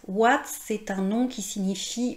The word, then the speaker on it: ouate: Vous voyez dans le mot oui en fait ça s'écrit o u i et pourtant on prononce le son [w] Egalement dans OUATE. OUATE c'est un nom qui